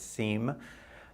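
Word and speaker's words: SEME: search engine manipulation effect SEM E which we pronounced as seem and there were some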